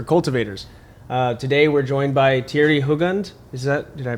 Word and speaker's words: Thierry: are car culture cultivators today we're joined by Thierry hogund is that did I pronounce it correct perfect I watched a YouTube